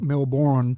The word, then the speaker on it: Melbourne: syllable a bit like Melbourne that's right sounded all out phonetically that's it whereas if you spelled Melbourne the way we we say it in Australia it would be mlbn I reckon Melbourne that's how we say